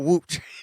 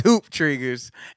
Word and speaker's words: Hoop Triggers: right yeah who yeah with a hoop trigger not whooped it's hoop triggers and um uh what